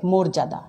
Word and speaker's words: মর্যাদা: পরে দেখো রেপ আছে, রেপ থাকলে কি হবে? এই মর্যাদা শব্দটা উচ্চারণ হবে মর্যাদা, পর্যায় শব্দটা উচ্চারণ হবে পর্যায়, পর্যন্ত লিখছি শব্দটা উচ্চারণ হবে পর্যন্ত, পর্যবেক্ষণ শব্দটার উচ্চারণ হবে পর্যবেক্ষণ।